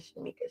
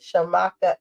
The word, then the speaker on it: Shamaka: See, I think I said it wrong the first time. I'm working on it. Blend it. Don't be mad. Shamaka Essentials, y'all. I keep saying Shemica. Shamaka Essentials.